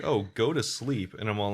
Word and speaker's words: Slepe: It must be called sleep because it makes sense. It's spelled SLEPE, but either way.